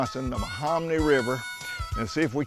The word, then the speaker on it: Menominee: the Menominee River, and see if we can't catch a fish.